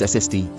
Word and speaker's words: SSD: Is it a SSD or an SSD? Possible duplicates, an SCAR or a SCAR. Do you use A or an before acronyms? Since SSD, solid state drive, is pronounced SSD, I'm wondering whether one should write an SSD